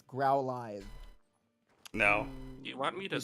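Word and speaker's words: Growlithe: It's growlive. No. You want me to smack because it's growl and live. Live is a word. Yeah. Live is a word. It's not growl live. It's 100% growlive.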